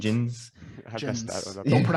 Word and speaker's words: Djinns: Djinns. I messed that Djinns. one up. Don't pronounce the D.